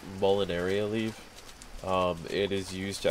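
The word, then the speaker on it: Molineria: Yeah, Molinaria, that's how you pronounce it.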